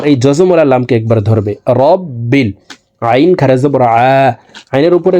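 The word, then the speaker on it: رَبِّ: লিল্লাহি আলহামদুলিল্লাহি রবা জবর রব বালাম জেরে বিল রব্বিল আমরা অনেকেই রাব্বিল পড়ে থাকি এখানে রকে রা বলা যাবে না র বলতে হবে র জবর রব বালামের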